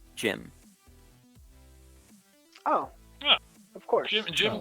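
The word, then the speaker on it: Jaime: He says it's pronounced Jim.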